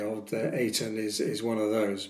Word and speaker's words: Eitan: The book is about the central character is called Eton Rose spelled Ei Tan. Now I I pronounce that it tan but we're told that it rh it rhymes with spray tan in the book.